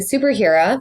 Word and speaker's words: SPRHRA: just for our audience too we've been saying superhero yes that named the brand and it's pronounced or it's spelled s p r h